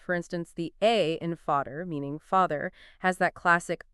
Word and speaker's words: Vater: Think of Vater meaning father, where the A is long, versus Holly meaning hall, where the A is short.